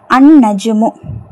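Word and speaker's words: النجوم: சரி சரிங்களா நூன் பாருங்க அன்நஜுமு அன் நஜுமு அந்த நட்சத்திரம் த ஸ்டார் நஜுமுன் அப்படின்னா ஸ்டார்ன்னு தெரியும். அது அலிஃப்லாம் போட்டு எழுதும்போது அன்நஜுமு. அந்த லாம் உச்சரிக்கப்படாது ஏன்னா நூன்ங்கறது ஷம்சியாவுடைய எழுத்து.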